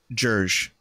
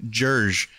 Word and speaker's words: jerg: here pronounce the usern it's like Serge but with a j jurge so it's jur that's a fun word to say say that one out loud with me jurge it sounds kind of